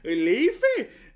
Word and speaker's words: Leif: So they're like Leif or something, Leif, but it's pronounced Leif.